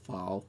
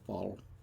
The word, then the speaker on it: phaal: ago um i did the foul of all file file how they pronounce the ph l um of the spice